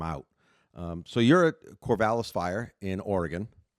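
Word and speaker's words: Corvallis: Um so you're at Corvalis Fire in Oregon. Correct. And I did I say it right? Oregon. I you did. Yep. Corvalis, Oregon.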